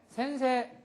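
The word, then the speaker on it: 先生: 에 에 에 그다음에 센세 센세 센세 센세 각세 각세 니온고노 센세 니온고노 센세 에고노 센세 에고노 센세 하이 이렇게 해서 센세이 각세이 이렇게 따로 발음을 하는게 아니다라는 걸 주의를 하시기 바랍니다.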